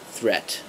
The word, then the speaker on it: threat: have again a longer vowel before the D and the D is very soft and then the shorter vowel for the tea and the tea is hard thread and threat and if you over